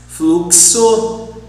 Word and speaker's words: fluxo: But in Portuguese also we have some exceptions, like táxi, fluxo, we pronounce as like in English, fluxo, anexar, fixar, ortodoxo, oxigênio,